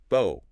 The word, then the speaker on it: bow: And if you rhyme it with no, then it's the noun bow, a bow and arrow, or the decorative bow in your hair.